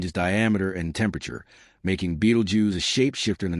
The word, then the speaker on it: Betelgeuse: Even today, Beetlejuice is peculiar name often mispronounced as Beetlejuice thanks to a certain ghostly comedy sparks curiosity and wonder among those who gaze upward.